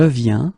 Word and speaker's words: viens: Okay, and phonetically it's it's the same form. So you get je viens, okay, tu viens, il vient, elle vient.